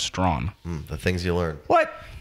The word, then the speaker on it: Strachan: It's actually, you pronounce it Mike Strawn. Strawn? Strawn. How does Mike Strachan pronounce his name? His last name is pronounced Strawn. The things you learn. What? The CH is silent?